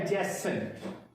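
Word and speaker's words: adjacent: ये इनफैक्ट इसमें D silent हो जाएगा उसी रूल के मुताबिक। तो ये वर्ड होता है एडजेसेंट।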